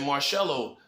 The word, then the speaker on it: Marcelo: will say he was respectful enough to say my name right he said Marcelo he's saying my name